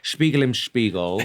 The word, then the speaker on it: Spiegel im Spiegel: So I have chosen a song that I love, a piece of music, Spiegel im Spiegel. Yeah. Classic. I think that's how you pronounce it.